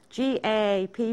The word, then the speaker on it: GAAP: And they're otherwise known, they're abbreviated to GAAP, G-A-A-P, pronounced GAAP.